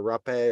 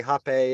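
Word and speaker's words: rapé: of father rapacho or rape or Hoppe um rape is spelled r-a-p-e so but with a hyphen on the E uh normally but so I tend to more say happy if I'm around people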